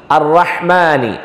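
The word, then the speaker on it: الرحمن: ബിസ്മില്ലാഹിർ റഹ്മാനിർ റഹീം, അർറഹ്മാനി അർറഹ്മാനി. ചില ആളുകളെങ്കിലും അർറഹ്മാ റോ റോ എന്നുള്ള രൂപത്തിൽ ഉച്ചരിക്കുക, അങ്ങനെ ഒരു ഉച്ചാരണം അറബിയിലില്ല. റോ എന്ന് പറഞ്ഞു അർറഹ്മാനി റഹ്മ ഹ നന്നായി ഉച്ചരിക്കണം.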